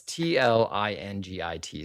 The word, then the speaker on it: Tlingit: Okay, well, it's Tlingit. So however you pronounce it, I'm gonna say Tlingit, but I might be pronouncing that incorrectly.